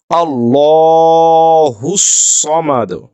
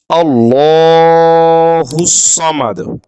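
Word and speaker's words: الله الصمد: জবরটা যেহেতু জবর আছে ডানদিকে কিসের উচ্চারণ হবে বাংলার ল এর মত উচ্চারণটি হবে আল্লাহুস সামাদ আল্লাহুস সামাদ প্রিয় শিক্ষার্থী দ্বীনি ভাই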